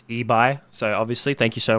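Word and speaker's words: Ibai: close so as gold corrects me myself it's ebi so obviously thank you so much as gold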